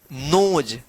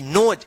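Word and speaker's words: nose: इ का कोई उच्चारण नहीं होगा। तो इसको क्या पढ़ेंगे? नोज। एन ओ एस ई नोज।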